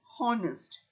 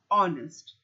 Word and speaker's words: honest: goes to honest girl we don't we do not say honest we say honest the H is a